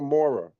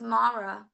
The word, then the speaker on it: Mara: up real quick um am I saying your name wrong is it is it Mara is it Mara or Mora it's Mara Mara okay yeah it's Mara gotta put the RA in there um so you